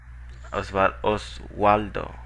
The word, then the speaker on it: Oswaldo: Oswaldo. Here. ¿Cómo se pronuncia tu nombre? ¿Osvaldo o Oswaldo? Osvaldo.